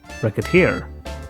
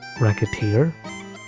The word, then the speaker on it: Recettear: running an item shop called wreck it here the game's namesake and a match of the words rosette and tear also when you mispronounce it as racketeer that's just a bit